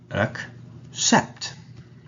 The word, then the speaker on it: accept: in the word accept here the word starts in a relaxed manner and end with a stressed apt sound so it's accept and also note down uh that it's not accept accept another instant where